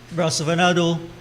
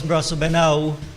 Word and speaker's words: Brasso Venado: Brasso Venado, of course, Brasso Benau is the Patois pronunciation.